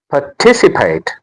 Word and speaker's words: participate: pa ticipate The stress is on ti. participate It is not participate.